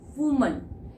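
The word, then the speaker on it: woman: Pronunciation इस, अगर मैं लिख देती हूं, आपको पता है इसकी प्रोनाउंसिएशन बहुत इंपॉर्टेंट है और most of the people they pronounce it एज रॉन्ग। इट्स वुमन।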